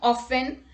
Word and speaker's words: often: T is not pronounced in these common words. Let's look at the examples. Castle, Christmas, fasten, listen, often, whistle, thistle, bustle, hasten and rapport.